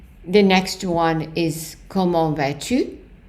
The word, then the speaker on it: vas-tu: The next one is comment vas-tu? And you don't pronounce the S.